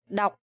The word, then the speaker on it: đọc: You remember this word had a similar rhyme with the word ngọc, jade, ngọc, and this one is đọc. So you have to pronounce very clear and very strong.